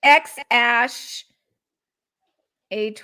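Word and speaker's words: X Æ A-12: How do you actually pronounce this? Because he said it. X Ash A12.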